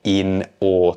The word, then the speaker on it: in awe: So the phrase is to look at something in or, but notice my pronunciation. To make it more natural, we blend in or together. So we look at something in or.